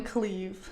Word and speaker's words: Clive: But this dude is English. I checked, and his name is spelled Clive. And he says it, Cleve. I'm Cleve Baxter. Cleve.